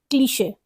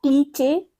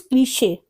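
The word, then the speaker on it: cliché: 72, क्लीशे। इट्स नॉट क्लीचे, इट इज क्लीशे।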